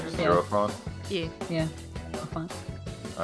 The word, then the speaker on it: Hierophant: I've heard it pronounced high arrow fan. Is it just like Hierophant? is it just Yeah. Hierophant? Yeah. Yeah. Hierophant.